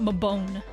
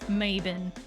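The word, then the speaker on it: Mabon: discovered that it's not my bone it's not my bone it's maven it's pronounced differently in uh Britain but if you don't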